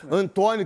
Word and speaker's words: Antonio: o atacante Antônio né acho que é Antônio que se pronuncia Antonio que é o nome